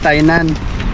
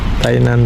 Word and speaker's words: Tainan: Sabi ko hindi po yun Thailand, Thainan pero dito po rin yun sa ano sa Taiwan. Tainan. Taiwan kasi kung sa biglang mabilis na bigkas. Thailand yan. Thailand. Thailand Thainan. Thailan po. N po yun.